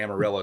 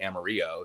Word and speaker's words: Amarillo: no nobody does so we say amarillo texas even though it should be amarillo so there you go